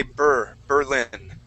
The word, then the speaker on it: Berlin: the berlin wall burke so instead of saying berlin we want to say burr berlin there you go burr